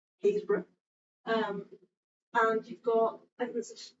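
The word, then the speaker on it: Happisburgh: But you've also got, you know, the first evidence of humans, so footprints, down in, you'll never guess how this is pronounced if you don't know it, Haysborough.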